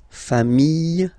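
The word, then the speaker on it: familles: the plural form okay remember singular form sh same pronunciation but you put this s okay final s pronounced singular form fam plural form same pronunciation s not pronounced okay we'll discover so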